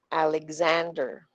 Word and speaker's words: Alexander: yung pangalan ni Alexander which is the stress syllable Is it a is it Lex is it sand or is it er Alexander yung a ' ba yung a second a Alexander yun yung Slow Mo